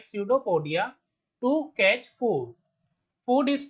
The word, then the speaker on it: pseudopodia: Amoeba digest food in food vacuoles using pseudopodia. Here P is silent.